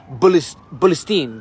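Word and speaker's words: فلسطين: They don't say Palestine. They say Bulistine. They don't use the P.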